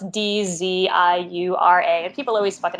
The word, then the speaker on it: Dziura: It's Polish, Dziura. That's not how you pronounce it in Poland, but that's how we pronounce it.